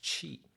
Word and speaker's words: qi: It pronounced as qi, which is considered the vital life forces or energy that flows through the body.